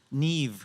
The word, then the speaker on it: Niamh: knew it instantly when I saw it great Neeve I'm going to ask you to start um